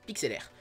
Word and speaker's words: Pixlr: monde, et tu tapes PIXLR, donc ça se prononce PIXLR.